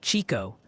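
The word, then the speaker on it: Chicot: Chickett County is apparently Chico, and Mahomet, Illinois is Mahomet.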